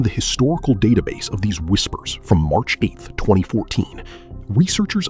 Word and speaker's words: WSPR: Whisper, pronounced whisper.